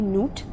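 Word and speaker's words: Nut: the night sky okay note pronounced as n-o-t Newt is the Egyptian goddess of the night sky the goddess of heaven and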